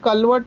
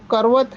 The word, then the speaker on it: करवत: जैसे बाबा कहता है काशी कलवट, अभी कलवट शब्द नहीं है, वो करवत है। करवत से जो काटा जाता है, कारपेंटर के पास करवत होता है, लेकिन प्रोनाउंसिएशन से कलवट कहते हैं।